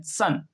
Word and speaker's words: son: SON सन। देखो यहाँ भी ओ है लेकिन इसका उच्चारण हो रहा है छोटे या की तरह, सन।